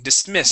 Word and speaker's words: dismissed: good good all right this word here is dismissed with a t ending dismissed dismissed okay dismissed there